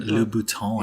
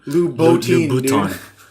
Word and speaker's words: Louboutin: Christian Louboutin. Yeah, dude. How do you say that? Not Louis Vuitton. Louboutin. Louboutin.